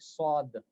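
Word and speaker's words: ص: Sad is heavy. That's why when I was writing the English, instead the pronunciation, I write it like sad. All right. And seen is seen. This W brings a kind of heaviness with the filled mouth.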